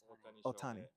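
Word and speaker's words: Ohtani: Otani.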